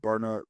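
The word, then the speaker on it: Byrna: We're a a proud distributor of Burner Technology, which is a less lethal option for firearms.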